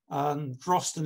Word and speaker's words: Drosten: Drosten is the Pictish method of pronunciation.